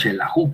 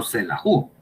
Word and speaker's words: Xelajú: Decimos xelajú, pues, no xelajú, porque es una palabra pues, que viene de esto del quiché.